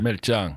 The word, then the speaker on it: Merchan: Because I want to say it in the Spanish way. Merchan. Merchan.